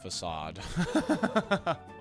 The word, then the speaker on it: facade: Well, it is actually pronounced facade.